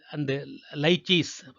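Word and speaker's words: lychee: Mango, மாமரம், அண்டு லைச்சீஸ், எல்இன்னு போட்டிருக்காங்க. அது உச்சரிப்பு வந்து நம்ம லீன்னு படிக்கக்கூடாது, லைன் தான் படிக்கணும். லைச்சி ட்ரீஸ்.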